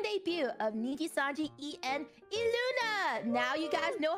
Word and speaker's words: ILUNA: of niji Sanji en eluna now you guys know how to pronounce it it's not I Luna it is foreign